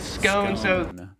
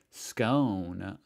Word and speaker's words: scone: In American English as scone, whereas. Because I've almost never said that word in my life. In Australian English, it is pronounced scone.